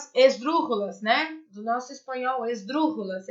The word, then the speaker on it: esdrúxulas: Do nosso espanhol, esdrúxulas, é assim que faz a pronúncia.